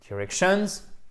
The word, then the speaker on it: directions: Si par exemple vous dites « directions », c'est directions et c'est pas directions. Ok? C'est ni sur la première ni sur la troisième, mais c'est bien sur la deuxième.